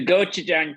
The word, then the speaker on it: gochujang: and kimchi hash with the i'll try and pronounce it the kochu-jang ketchup the gochujang ketchup indeed i've actually got this uh sausage